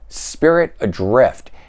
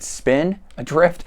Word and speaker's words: Spirit Adrift: All right, Spirit Adrift. And I think I mispronounced that the last time. I might have said Spin Adrift.